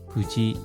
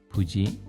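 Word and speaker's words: 無事: 후다리 두 사람 후다리 부지 하면 무사입니다. 무사하다 할 때 부지 발음에 주의해 주십시오.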